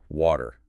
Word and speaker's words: water: Pretty much in standard American pronunciation, that T in the middle often sounds like a soft D. It's technically called a flapped T, a quick flap of the tongue against the roof of the mouth. So it sounds like veggie almost rhyming with ladder or daughter.